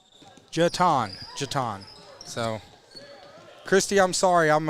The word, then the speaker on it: Jetton: She said Jetton is pronounced Jeton.